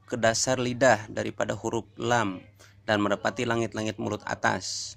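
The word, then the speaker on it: ل: Nomor 11 hurufnya ada satu, yaitu lam. Cara bacanya lam, lam, atau la, la, la.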